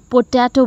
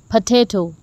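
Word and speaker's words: potato: पोटैटो, अब इसे mostly लोग पोटैटो बोलते हैं, जबकि ये गलत है, इसको हम बोलेंगे पोटैटो।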